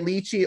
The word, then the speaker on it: lychee: You can say it lychee or lychee, and you can spell it L-Y-C-H-E-E or L-I-T-C-H-I-E, or I mean not L-I-T-C-H-I, either way.